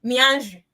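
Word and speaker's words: 面子: It is pronounced as mianju. I saw this because I wanted us to familiarize ourselves with a little bit of Chinese language today.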